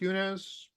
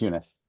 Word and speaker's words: Eunice: I wanted to ask our guest, Yunez, is it pronounced Yunez? Would you be able to take a question? Oh, hello. Yes, it's Eunice.